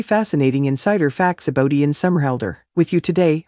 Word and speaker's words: Somerhalder: 8th 1978 number two his name is pronounced summer holder number three he started